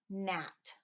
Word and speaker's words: gnat: The letters WR, KN, and GN make the sound you hear at the beginning of rap, no, and gnat.